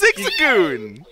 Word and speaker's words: Zigzagoon: oh God I'm going to say it wrong Zigzagoon that's it it's Zigzagoon let's go nice and Amber's at a nice